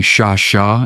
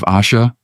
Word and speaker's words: Asha: "She could not say my name right at first. She called me Shasha instead of Asha."